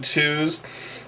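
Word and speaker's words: Tewz: It's spelled T-E-W-Z, Twos.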